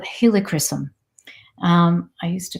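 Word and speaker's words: helichrysum: HR Ys u m so I'm like okay helicopter I got that and uh Christen so like christening like and so it's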